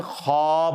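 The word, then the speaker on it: خواب: खवाब लिखा जाता है लेकिन यह पढ़ने में खब होता है यानी व साइलेंट है यह पढ़ा कैसे जाएगा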